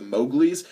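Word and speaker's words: The Mowglis: really love called the Mowgli uh that's spelled m o WG l i s as in mowgly from Jungle Book it's a great band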